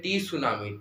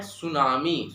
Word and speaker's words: tsunami: यहां पे होता है जो टी होता है वो साइलेंस होता है तो कोईकोई ऐसे पढ़ते हैं टी सुनामी टी सुनामी ऐसे पर नहीं इसका एप्रोप्रियट एक्स प्रोनाउंसिएशन है सुनामी सुनामी सुनामी का मतलब क्या